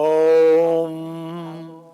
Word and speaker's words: Om: In English, we will use 3 syllables to describe it. En inglés lo describimos con 3 sílabas. A, U, Ma. That's how it is. Ma. Om.